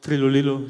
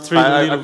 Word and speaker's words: Trilulilu: That was a very good pronunciation of Trilulilu, so you pronounced Trilulilu very well.